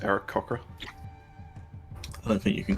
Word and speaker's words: Aarakocra: I believe it's pronounced Eric Cochra.